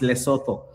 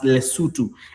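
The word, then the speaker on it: Lesotho: By the way, guys, Kenyans, it's not pronounced as Loto is it's pronounced as Lutu.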